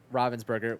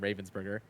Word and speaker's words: Ravensburger: mean I know that Robin's burger which I found out how to pronounce properly there because for the longest time I called them Ravensburger um it turns out